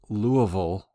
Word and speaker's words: Louisville: And by the way, it's often pronounced Louisville, and that's the way we said it as kids. But I never say that as a native because I want people to understand what I said.